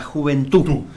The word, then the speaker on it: juventud: poder hablar la juventud sin d no er as sin era con acento en la u la juventud y qué era la